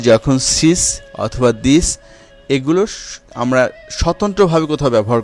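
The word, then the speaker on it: dix: এবং এরপরের শব্দটি রয়েছে দিস। দিস এর শেষে কি? ইক্স আছে, ইক্স এর উচ্চারণ ছয়ের মতো।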